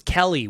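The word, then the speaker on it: Kelle: So first up, one of the stars of episode 1 was Kelly with an E. K-E-L-L-E, more like Kel. That's how I would pronounce that.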